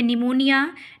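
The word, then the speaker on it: pneumonia: word है वो है निमोनिया निमोनिया में पी साइलेंट रहता है बहुत सारे लोगों को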